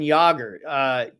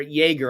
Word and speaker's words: Jaeger: And I started with Stefan Jaeger, or Jaeger, I believe is actually the proper pronunciation there.